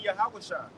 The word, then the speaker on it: Yahushua: him and Yahushua, or how to say his name in the Hebrew, it would be Yahushua.